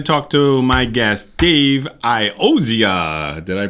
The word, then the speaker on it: Iozzia: Hey, welcome back live from Dennis's house, and now we're going to talk to my guest, Dave Iozzia. Did I pronounce that correctly?